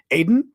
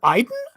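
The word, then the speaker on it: Aden: that was all amazing Aiden did Iden get out pronounced Iden is it really Iden is that true I always thought it was Aiden golf of Iden okay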